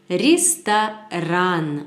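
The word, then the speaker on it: ресторан: elles restent à rânes reste à rânes avec l'accent tonique à la fin sur anne les stars and et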